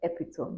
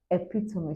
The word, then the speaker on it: epitome: It's not epitome. Most people say epitome, but the correct pronunciation of that word is epitome.